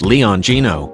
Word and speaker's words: Leoncino: us by showcasing the Leone sino pronounced Leon Gino meaning the lion cub Street in Alianza no